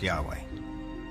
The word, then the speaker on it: Yahweh: knew God by his intimate personal name conventionally pronounced Yahweh passages with the name yah way which in